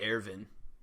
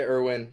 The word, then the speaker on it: Erwin: watch it sub and it's just e-r-w-i-n yeah i mean it's spelled the same way but yeah they say arvin yeah i say irwin whatever yeah i mean